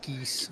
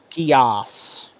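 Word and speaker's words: Geass: real big brainwash Japanese pronunciation, but you'd pronounce it kind of like the word gas, I guess.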